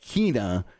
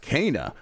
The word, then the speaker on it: Kena: out a game obviously called kina and then apparently it's pronounced kana like that's a [